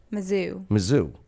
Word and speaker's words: Mizzou: Mizzou.